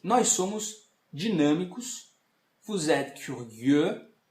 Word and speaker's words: curieux: Vous êtes curieux. Atenção aqui a pronúncia do U novamente.